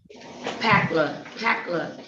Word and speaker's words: Patchler: Packler, not Chuck. The H is silent, right?